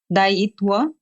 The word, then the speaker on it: Daayitwa: Daayit, like tea. Daayitwa.